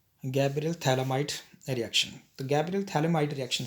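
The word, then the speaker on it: phthalimide: थैले माइट reaction गबल थले माइड reaction से हम प्राइमरी अमीन कैसे बनाएंगे पहले थली माइड यह स्ट्रक्चर थली माइड का थली माइट पीएच साइलेंट है इसको ट्रीट करेंगे हम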